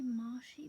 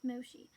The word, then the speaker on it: Moshi: the Moshi game yeah going to say marshy because of the way it's spelled but yeah it's pronounced Moshi a cool feature in